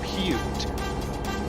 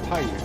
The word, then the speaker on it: Paiute: Paiute. I don't think you'd pronounce that Paiute. I think Paiute would be P-A-Y-U-T-E.